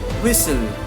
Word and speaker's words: whistle: The letter T is not pronounced in the following common English word. See, we're talking about the letters T, the silent word exactly where is the word and which we have not pronounced the letter T.